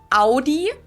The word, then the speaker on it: Audi: the first one is Audi most Americans that I know pronounce it like I just saided AI in German we say Audi Audi Audi it all depends where